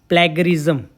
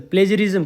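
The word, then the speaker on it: plagiarism: उसको रिसर्च की लैंग्वेज में क्या कहते हैं, प्लेगरिज्म, ठीक है, प्लेगरिज्म, सॉरी प्लेजरिज्म कहते हैं, सॉरी प्लेजरिज्म, इसका उच्चारण करते हैं प्लेजरिज्म, ठीक है।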